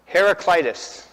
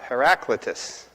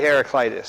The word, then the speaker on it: Heraclitus: I tried to learn how to say this name Heracitis. Some people say Herac Heraclitus, but the Greeks say Heracitis because you know there's also a hero Heracles that you might know of from from Greek history.